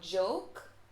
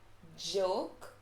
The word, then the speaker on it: joke: have to remember that j in english is pronounced j so joke it's not pronounced it's pronounced j so joke joke joy jealous right all